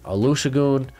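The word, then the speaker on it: Olusegun: going to be at michigan this year olu olusugu aloo shagoon there we go i wrote down the pronunciation i'm a big fan he's a big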